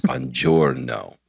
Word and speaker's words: buongiorno: I am absolutely going to do the effort to say buongiorno, okay, over and over again until I go, oh, the G is silent. It's buongiorno, okay?